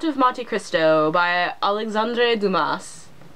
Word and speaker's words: Dumas: Monte Christo by Alexandre Dumas Doma he's French the S might not be pronounced for the fantasy genre